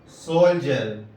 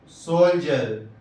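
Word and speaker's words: soldier: اسی طرح سولجر، سولجر، دیکھیے یہاں ڈی کے بعد آئی ہے تو تلفظ جیم سے ہوا.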